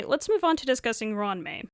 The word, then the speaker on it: Ruan Mei: Uh, anyway, let's move on to discussing Ron May. My name is Ram May. When saying my name, please don't run the syllables together.